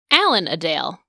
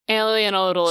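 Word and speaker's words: Alan-a-Dale: think I see why it's like because it's Allen of Dale is kind of where that comes from right so alien oal alien odal is the right way it's like somebody who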